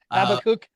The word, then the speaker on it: Habakkuk: Number one, you're going to hear the pronunciation of the word, and it's one of your favorite. Habakkuk.